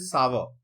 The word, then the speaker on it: sour: ये कोई भी ऐसा सब्सटेंस जिसका टेस्ट सावर हो, सावर, जिसको सौर भी बहुत लोग बोलते हैं, बहुत लोग सार भी बोलते हैं, बट इसका प्रोनाउंसिएशन इज सावर।